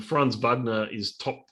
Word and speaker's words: Wagner: So just getting a bit of a pronunciation on how you pronounce their surname. Hang on. That's about it. Lieutenant Wagner. Wagner. No, Wagner. Wagner. It's Wagner.